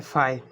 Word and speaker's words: phi: को यूज़ करते हैं जिसको हम कहते हैं फाई, इसकी स्पेलिंग होगी PHI।